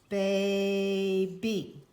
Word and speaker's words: baby: second syllable would be baby I heard the break right here the consonant was on the second syllable so that a will say its name BAE a B you